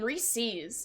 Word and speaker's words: Reese's: It's pronounced Reese's? That's so lame. Reese's. It's just so much cooler. Just like you pronounce the name Reese, but possessive. That is true. Reese's.